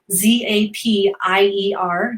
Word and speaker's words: Zapier: do is i go to the zapier website z-a-p-i-e-r is how you spell it um i go to the zapier website